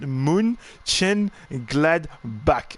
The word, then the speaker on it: Mönchengladbach: Captain is letting me know that you pronounce it Mönchengladbach.